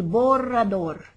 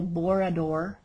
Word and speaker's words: borrador: the spanish-speaking world el borrador and if you say el borrador don't worry as i mentioned before you will still be loved for trying to use the word and not rolling your r's this is for an